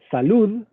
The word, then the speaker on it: salud: España, se dice Madrid, porque la D final de una palabra se pronuncia como Z, en muchos casos. Madrid. Salud sería salud. O perfecto, que es una C al final de sílaba, se pronunciaría perfecto.